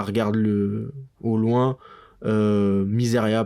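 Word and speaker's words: Mysaria: voit un petit plan miséri arenira ça regarde le au loin euh miseria pardon miseria parce que on me reprend pas mal sur les prononciations toutes mes toutes mes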